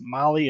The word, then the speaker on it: Mahle: And for all our podcast listeners, Molly is spelt Mahle.